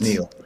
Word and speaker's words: Niall: Shall we, it's pronounced Neil.